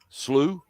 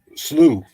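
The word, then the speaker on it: Sluagh: to talk about and tim how do we pronounce this slew so slew yeah the slew okay like demons the slu are scary creatures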